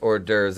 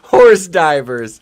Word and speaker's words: hors d'oeuvres: highlight Windsor's comment here hors d'oeuvres pronounced hors d'oeuvres except my friend sandwich branded horse divers yes that that's coming